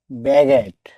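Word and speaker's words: baguette: অর্থ পরিলেখ বা ছায়াচিত্র বি এ ডবলটিই ব্যাগেট অর্থ পাতলা রুটি। এখানে জি এর পর ইউ লেটার ডি সাইলেন্ট থাকবে।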